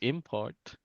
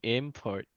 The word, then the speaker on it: import: Um so if we read it as a noun, it's import. And then the example is coffee is an import from Colombia. That's great. Yeah. And then if it's a verb, import, right?